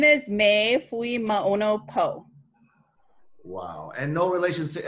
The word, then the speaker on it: Poe: so my name is Mae Lima oh no PO Wow and no relations to Edgar Allen my husband's family so they are like distant Edgar Allen Poe relatives that's literally the only other poet I